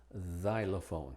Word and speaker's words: xylophone: Y como Z al principio de las palabras, como xenon, xylophone.